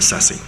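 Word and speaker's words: CCSSE: make a whole lot of sense, so people pronounce it SESI.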